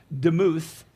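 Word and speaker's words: דמות: Now, likeness is the Hebrew word that is pronounced demuth, and it's very similar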